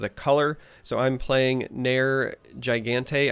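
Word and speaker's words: Nergigante: color so I'm playing NER Gigante I believe is how it's pronounced I always slaughter this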